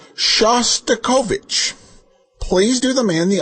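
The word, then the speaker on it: Shostakovich: nice man called and told you how to pronounce it correctly, you still kept saying wrong." It's not uh Shtovvic, it's Shastikovich.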